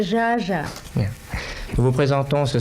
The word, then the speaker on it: Zsa Zsa: Vous savez, mon nom, c'est pas Zaza, c'est Jaja.